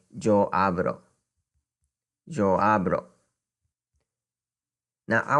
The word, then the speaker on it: yo: So if I want to say I speak, I would say yo hablo. Yo hablo. Now I want to note that yo is meaning I. Spanish speaking people pronounce either yo or yo.